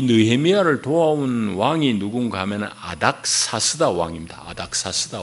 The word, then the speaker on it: 아닥사스다: 그러니까 역사책에 등장하는 아닥사스다, 아다르크세르크세스 뭐 이래 돼 있을 겁니다. 세계사 책에는 그 영문으로 읽는 영어식으로 발음하는가에 따라서 이제 그런 발음은 성경하고 조금 차이가 나요.